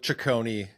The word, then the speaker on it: Cicconi: I usually just go with Cicconi. It's like the easier way for people to pronounce it, and they get it right when I go with that.